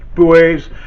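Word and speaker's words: buoys: i said are marked by boys pronounced boys and the americans have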